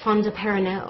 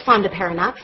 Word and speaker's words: fondaparinux: and the generic name, it looks French. It ends in E-A-U-X. And so I thought you pronounced it Fondaparinux. I thought it was, you know, French sounding. It's Fondaparinux. I pronounced it wrong for years.